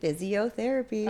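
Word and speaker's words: Fizziotherapy: Physiotherapy. Oh. It's spelled F-I-Z-Z-I-O. Oh, okay. Because it's like a sparkling white wine.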